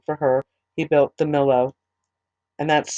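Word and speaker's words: Millo: her house built for her he built the mellow and that's spelled m-i-l-l-o now three times a year solomon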